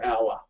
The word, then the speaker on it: hour: just like honor or hour hour yeah the H is silent right so we say an hour an how how long will you be um I will only be an hour an hour even though